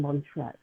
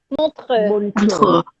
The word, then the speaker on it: Montreux: I will start to tell everybody you're actually from Montreux.